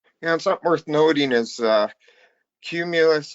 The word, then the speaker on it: Qmulus: And something worth noting is Cumulus is definitely a play on words as far as how that's spelled. It's not spelled like the cloud, Yeah.